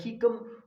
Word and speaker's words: cecum: ठीक है, आप किसी भी तरह प्रोनाउंस कर सकते हैं, लेकिन जो बेहतर प्रोनाउंसिएशन है इस वर्ड का वो कीकम है। ठीक है, attached to the